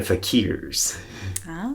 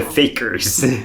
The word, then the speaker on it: fakir: magicians in history, the fakirs, or the fakers. So, but that's not how you pronounce it, though. No, it's fakir, yeah.